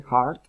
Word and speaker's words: heart: Ese heart, que es corazón, se pronuncia, aunque empieza con H, se pronuncia con una J, se escucha el sonido.